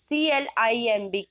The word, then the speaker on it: climb: So, children, how to pronounce this word? C-L-I-M-B, climb. Climb means चढ़ना, है ना? So, हम wall में चढ़ते हैं, trees में चढ़ते हैं, but इसमें बी तो है, लास्ट में इसमें बी है, बट एक्चुअल जो इसका